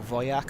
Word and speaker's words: Wojak: but they didn't have Wojak or Wojak, as you're supposed to pronounce them in Polish.